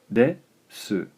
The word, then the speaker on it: です: Alright, so our first grammar lesson here, we'll take a look at this word, desu, des. So, pronounce des, and des is roughly equivalent to is, or am, or are in meaning.